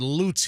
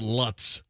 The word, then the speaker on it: Lutz: It's we pronounce it loots here, but most if you're not from here, you call Lutz.